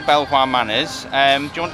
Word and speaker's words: Belvoir: belleville manors and now before anyone starts commenting we know if you're from leicester you pronounce it bieber but we don't agree with that so we're not doing